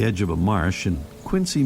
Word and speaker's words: Quincy: of a marsh in Quincy, Massachusetts, or Quinzy as the locals say, just south of our hometown of Boston.